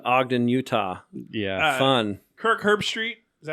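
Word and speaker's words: Herbstreit: fun going to Ogden Utah yeah fun Kirk herb street is that how you say his name yep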